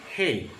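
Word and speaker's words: הא: As in H. Hey. Hey. Hey. Yan. Yan. Hey, ganun siya. Hindi siya yung, kaya binupronounce ng iba to, ibang pronounce nila na, lalo na ibang mga nagtuturo ng pananampalataya na sumikat ngayon, mali ang pagkakabigkas nila dito. Okay? So, ang bigkas natin dito ay hey.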